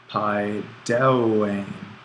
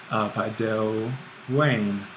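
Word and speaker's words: παιδεύειν: So, Paideuane. Lots of, Paideuane. Again, accent on the last bit of the stem.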